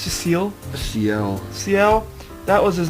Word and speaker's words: Ciel: Alright, how do you pronounce Ciel? It's just Ciel? Ciel.